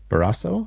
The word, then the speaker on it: Barrasso: We have a special guest today who I did not ask how to pronounce his last name, but it's uh Tom. I'm going to say Baraso.